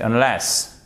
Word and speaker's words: unless: on n'entend pas forcément, regardez, unless, vous avez tout de même l'accentuation, même si c'est un mot court, sur la seconde syllabe. C'est pas unless, c'est unless, ok guys?